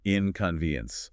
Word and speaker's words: inconvenience: Inconvenience. The main stress is on that third syllable ven.